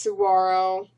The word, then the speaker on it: saguaro: from and sitting next to her is a saguaro cactus they are spelled saguaro but pronounced saguaro if you're unfamiliar with cacti and i love